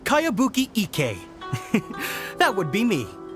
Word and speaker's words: Kayabuki: a really strange name who's this cowabunga it's pronounced kayabuki ek that would be